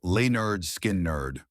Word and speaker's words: Lynyrd Skynyrd: Pronounced Lynyrd Skynyrd.